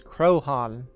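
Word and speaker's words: Croaghaun: So we are on an island on the west coast of Achill, and the pronunciation is Craigheon.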